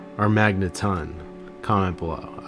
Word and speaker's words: Magneton: Magneton, or Magneton, comment below.